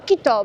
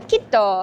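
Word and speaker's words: Quito: Teraz jest misja znaleźć transport do transportala w Tulkan i w Tulkanie musimy znaleźć autobus do Kito, bo się nauczyliśmy. Pan nam powiedział, jak się to poprawnie wymawia. Kito, kito.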